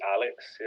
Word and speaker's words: AhhLix: That's the way you pronounce it? Just AhhLix.